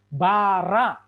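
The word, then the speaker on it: בָּרָא: Bet, games, res, games, alef. Ini aksen, tanda baca, bukan vokal atau bukan konsonan. Maka bacanya bara.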